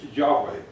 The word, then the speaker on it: Yahweh: probably heard this one it's hard for us to pronounce it's yahweh that is mostly translated lord